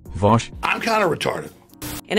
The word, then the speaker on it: Vaush: research on it was also recently raised by Vaush. Actually, it's pronounced Vosh.